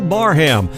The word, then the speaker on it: Barham: welcome to the cafe welcoming special guest carol barham and i was told that's how we pronounce her last name i have been pronouncing it wrong all this time so carol i do apologize it's carol barham she's gonna be joining us here at 12